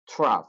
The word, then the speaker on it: trough: I know that you're struggling to pronounce this word, so remember the word rough, tough, trough. Yeah. Rough, tough, trough. Is this helping? Okay. So it's a trough.